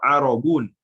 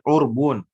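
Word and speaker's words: عربون: Wala yasihu bai'ul arbun, atau di sini bacanya bai'ul arabun. Ada beberapa cara membaca. Ya. Di sebagian teks juga ada urban, ada urbun. Ya. Jadi kalau dia bacanya arobu, maka arobun, roknya di harokat arobun. Tapi kalau kita domba seperti yang populer, urbun, populer urbun. Atau riwayat lain urban.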